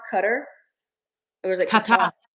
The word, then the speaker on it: Qatar: So, Kigali is partnering with Is it Is it pronounced Cutter? Or is it Qatar? Qatar.